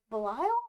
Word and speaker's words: Belial: Belial?